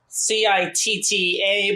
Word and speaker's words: citta: There's this word in Buddhism called citta, C-I-T-T-A, but it's pronounced like a C-H, citta.